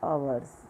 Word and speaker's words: hours: For example आवर्स, है ना। अब आवर्स की स्पेलिंग क्या होती है, HOURS, आवर्स, ठीक। लेकिन उसके पहले क्या लिखा है, H, है ना। तो एच क्या है, कॉन्सोनेंट है, बट हमें